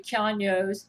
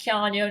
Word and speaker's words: Keanu: I also do not think that she can ever be Keanu's sex dummy. By the way, the name is pronounced Keanu, not Keanu, from Keanu Reeves himself.